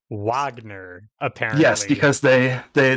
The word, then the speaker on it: Wagner: um it is pronounced Wagner apparently yes because they they they use the wrong character in the game so it's English W instead of German W this is the other